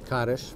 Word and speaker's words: Kaddish: We'll build a little spot for Kaddish. Is that how you say it? Kaddish, but that's okay.